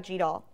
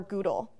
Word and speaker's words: GDAL: If you love converting data into different formats and computational analysis, you should learn about GDAL. or Google. People pronounce it differently.